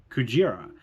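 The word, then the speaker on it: クジラ: The reason being that gorilla is pronounced Gorira and whale is Kujira.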